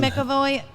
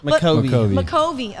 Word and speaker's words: McCovey: On a boat in McAvoy Cove. I'm not sure if I pronounced that correctly. McCovey. Okay, thank you.